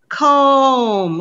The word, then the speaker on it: comb: same but we don't the first one pronounce it comb like i need to comb my hair the next one it's